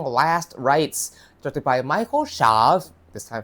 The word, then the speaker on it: Chaves: This is my review of 2025 The Conjuring Last Rights directed by Michael Sha. This time pronounce it correctly.